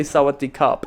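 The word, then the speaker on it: สวัสดีครับ: You gotta say sawadee cup if you're a boy.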